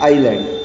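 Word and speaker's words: island: जैसे कुछ ऐसे वर्ड दिए हैं, जैसे इसमें एजल एंड आइलैंड, तो इसमें जो एस है वो साइलेंट है। मतलब दोनों ही वर्ड के अंदर एस जो है प्रोनाउंसिएशन के अंदर यूज नहीं हो रहा है, तो अपने प्रोनाउंसिएशन पे फोकस करिए।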